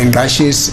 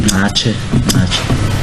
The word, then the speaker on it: Ngache: We are told that the family that you went into is the Ngashes and that's not in dispute. Excuse me? Ngache. Yes, the Ngashes. Ngache. NGC. Ngache. I was to pronounce that.